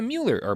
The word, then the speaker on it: Mueller: roll and signed a plea agreement with the Mueller investigation. Mm-hmm. So that's fun. Kind of angry at him for having a name that makes me want to say Mueller when it's supposed to be Mueller.